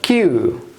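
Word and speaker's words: queue: আসুন আমি এখানে লিখছি কিউ ইউ ইউ ই শব্দটির উচ্চারণ কি? কিউ কিউ কিউ মানে কি?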